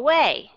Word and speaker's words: away: I want you to go away. Thì các bạn đọc cái chữ away, các bạn vẫn phải là âm schwa sound.